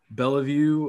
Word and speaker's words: Bellevue: And first thing, you were born, am I pronouncing this right? Bellevue, Iowa?